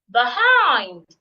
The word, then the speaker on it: behind: If the word has two syllables and it's a preposition, stress the second syllable as well. Behind.